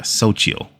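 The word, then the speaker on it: Xochitl: i t l um this is how it's pronounced if I can get so yeah Soo soil okay that's a cool name a bright but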